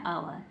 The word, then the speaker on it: hour: यदि एच के तुरंत बाद ओ है तो जाहिर सी बात है एच को साइलेंट रखेंगे, यानी कि छुपा देंगे, एच को नहीं पढ़ेंगे। तो क्या बन गया, आवर।